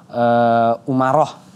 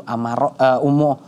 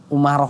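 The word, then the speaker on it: Umarah: juga ada yang namanya dia kan kunyahnya namanya abu Umaroh ya dalam riwayat lainnya juga yang bacanya Abu Amaro amaroh Ya tapi saya ambil yang masyhurnya yaitu umur Umaroh sajadah Nah jadi begitu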